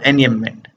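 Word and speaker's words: enjambment: इसमें जो जे है ना साइलेंट रहता है, इसलिए हम पढ़ते हैं इसको एनियममेंट।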